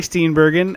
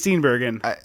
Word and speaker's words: Steenburgen: Christmas exactly starring Mary steenbergen and is it steenberg or steber I one second I believe it's uh I think it's steenbergen I believe it is a hard G um okay well in